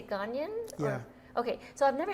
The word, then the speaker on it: Ghanaian: so i've never had ganon gangnam is it pronounced did we say ghanian yeah okay so i've never had gangnam food